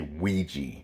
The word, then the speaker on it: Ouija: I've always heard people say Ouija. So it's one of those words like possum, you know, with the silent O. It literally looks like it's spelled E-E-I-J-A. It sounds like that, but it looks, and yeah, it looks completely different rather than how it's really spelled.